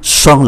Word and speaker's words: champ: Un champ, champ là cánh đồng, cũng không phát âm ký tự P.